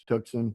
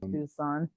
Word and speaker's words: Tucson: desert Reno Vegas tuxen Tucson no it's called tuxen you got to say it like you're from here you can't say it like you're back east somewhere the other one is